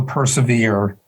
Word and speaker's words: persevere: a little tricky because in those days persevere would be persever and it would rhyme with ever uh so this is